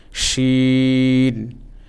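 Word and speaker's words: ش: তালব্য স্বর মতো, বাংলায় তালব্য স আমরা যেমনভাবে উচ্চারণ করি ঠিক তেমনভাবে শিন, শিন।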